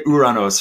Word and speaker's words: Uranus: clean Mark I'm sorry I'm just gonna say uranos from now on because that's the Greek pronunciation uh we actually had